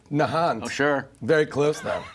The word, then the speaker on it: Nahant: not had a guest born or raised in Nahant Massachusetts we do now please welcome Jason manukas hello sir how are you sir did I pronounce that correctly the nant Nahant oh sure very close though very close I